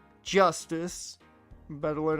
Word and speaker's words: Justice: Apollo Eustace. Apollo Eustace. Or Eustace is what it would be, yeah. That's justice.